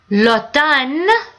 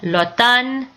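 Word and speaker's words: automne: and the warm weather Lan fall Autumn the French when they pronounce it the m is silent but they say the N Lan and what we're stuck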